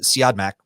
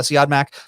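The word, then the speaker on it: Siodmak: heard it said so i think it's how you pronounce uh see odd mac but curtsy automatic wrote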